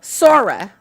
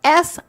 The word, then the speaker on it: Sora: So, Sora, that's spelled S-O-R-A or Ara.